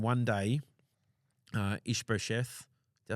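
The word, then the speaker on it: Ish-bosheth: so uh so vers 7 one day uh ish brth did I say it right that time you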